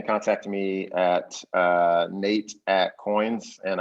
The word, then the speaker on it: Qoins: Yeah, so you can contact me at Nate at Coins, and I should explain how Coins is spelled. It's QOINS.